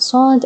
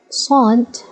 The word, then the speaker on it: صاد: Letter Saad, it's somehow similar to the S, but of course it's not S. If you remember, the letter in Arabic that's pronounced like the English S is called Sin, okay? Saad is different, it's like a graphy S. So of course it doesn't have an exact match or an equivalent in English, okay? It's somehow different.